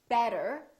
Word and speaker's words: better: the let me explain when the t is between two vowels the t sounds more like a d sound or what we call a very fast d so for example when we say the word better we have a vowel t and another vowel this t changes and it becomes this fast d sound so we don't say